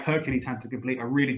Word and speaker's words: Hercules: your favorite cartoon again we how do we pronounce this guy's name Hercules Hercules now what's this word that I have in